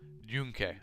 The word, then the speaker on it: Yunque: Junque. Okay, it's like a J.